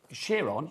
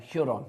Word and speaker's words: Huron: It's on the shores of Lake Chiron. Hiron. Hiron. How do you spell it? I can't see what you're saying. Can you? H R O N. Huron.